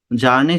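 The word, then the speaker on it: Bjarne: एंड जार्ने स्ट्राउस्ट्रप बी इसमें silent रहता है, जार्ने स्ट्राउस्ट्रप ने इसे डेवलप किया था।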